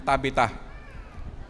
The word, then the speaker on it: Tabitha: Ang pronunciation po niyan Tabita.